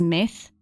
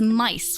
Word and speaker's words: Mice: I keep on pronouncing it or wanting to pronounce it as myth. For obvious reasons, I guess, but it's mice, which is gonna fuck with me a lot.